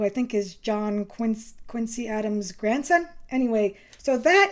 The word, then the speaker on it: Quincy: ballard went to adam's home in quincy they pronounce it quincy i've been there i know and i wish